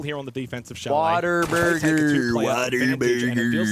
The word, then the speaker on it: Whataburger: The literal typing of it is what a burger, but everyone pronounces it Whataburger.